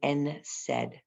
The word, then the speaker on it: NSAID: Ibuprofen or Motrin, it's used as an NSAID, an NSAID. Okay, so NSAID stands for a non-steroidal anti-inflammatory drug, an NSAID. That's how it's pronounced.